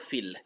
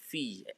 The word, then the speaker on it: fille: So you can see it's not fil, it's fee. Almost as if you're pronouncing F-I-Y, fee.